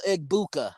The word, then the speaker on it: Egbuka: I can't really pronounce his name. Emeka Igbuka. I know who you're talking Igmeka about. Yeah, Egbuka.